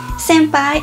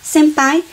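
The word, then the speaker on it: 先輩: O N aqui no Japão, diferente do Brasil, não tem o som de in, mas o som de um. Então, senpai se pronunciaria senpai, que juntando a bagaça tudo, fica senpai.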